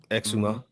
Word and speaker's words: Exuma: Am I pronouncing that correct? Exuma.